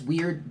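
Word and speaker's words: wyrd: you pronounce that right it's weird w-y-r-d not like weird w-e-i-r-l right all right here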